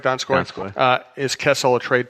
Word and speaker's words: Donskoy: Am I pronouncing it right, Donskoy?